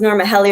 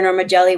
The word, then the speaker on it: Norma Geli: So my name is Norma Geli, or it's pronounced Norma Geli or Norma Geli, whichever way you want to say it. I'll respond to either or.